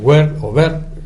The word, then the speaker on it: Wert: Estamos hablando de la LOMSE, de esa ley WER, porque hay que pronunciar bien el apellido del amigo del ministro del gobierno español, ministro de Educación.